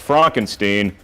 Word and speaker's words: Frankenstein: It's actually pronounced Frankenstein.